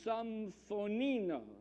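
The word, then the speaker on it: συμφωνώ: The Greek word for agreement is symphonino, at least according to Google Translate. That is how it is pronounced.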